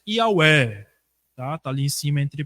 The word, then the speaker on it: Yahweh: A pronúncia ali, mais ou menos, Yahweh.